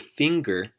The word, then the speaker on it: finger: were to spell the word finger with true Filipino phonetics we would spell it f ing ger see how we use ng together as one consonant hmm pair that with the Gus ound and then you've gotten ger finger singer is just the ng singer singer okay the - when